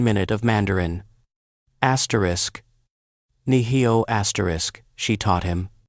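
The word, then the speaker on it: 你好: Bradley mispronounced it, mangling the tones. The room laughed softly, a gentle, understanding sound. Lucia didn't mock. She corrected him gently. Asterisk. Niheo asterisk. Push the breath from your diaphragm.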